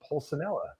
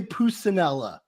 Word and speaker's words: Pulcinella: say that might be the first time you've ever pronounced my last name correctly oh really and i'm italian what do i normally say always say pusanella oh that's my that's